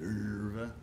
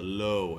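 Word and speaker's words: Löwe: He's got the Lerva. Is that how you say it? Lerva. The Lowe. The Lowe, as we Americans call it, because it's spelled L-O-W-E, not Lerva.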